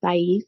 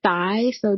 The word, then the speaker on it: Thais: I'm Thais, like phonetically Thai, so THIGH and YEESE. Thais.